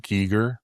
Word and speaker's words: Giger: Well, number one, it's pronounced Geiger, just not to humiliate you, but to I was waiting for that. I accept that and I appreciate the education. Um, Geiger, you can't rip this man off.